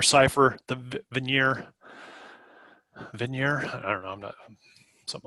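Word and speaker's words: Vigenère: key to breaking the venire cipher the Vanir Vanir something like that big veneer I think it's pronounced French he's a French guy key to breaking the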